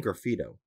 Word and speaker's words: graffito: is bugging me is is it actually a specific word that is graffito or are you mispronouncing graffiti no it's saying graffito so maybe that's just something